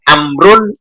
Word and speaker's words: Amrun: Kalau setelah ro ada wawu, maka jangan dibaca Umar. Bacanya kalau enggak Amrun, Amrin. Amron. Itu ditambah wawu.